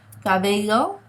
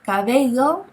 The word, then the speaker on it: cabello: Now remember, this is a fricative sound, and all that means is that it's a very soft sound, okay? So did you pick up on the pronunciation of this letter in all these words? Cabello, caballo, bello, caballa. It's a very soft sound. It's not like the English letter B, as in boy, okay?